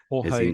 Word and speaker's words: Jorge: Jorge Uquera. Jorge, well done, you pronounced it right.